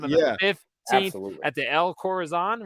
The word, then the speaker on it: El Corazon: We're getting together, Seattle, Washington, 2 weeks from tonight on the 15th at the El Corazon, right? Is that how you say it? Corazon, yeah. El Corazon Theater.